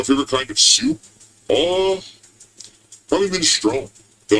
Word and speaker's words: minestrone: It's pronounced minestrone, Phil.